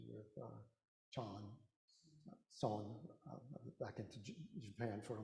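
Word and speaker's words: Seon: Chinese pronounce it chana, and the Koreans follow that pronunciation with chan, son, back into Japan for a moment. But chan becomes son. And it's usually transliterated S-O-E-N, or is it S-E-O-N?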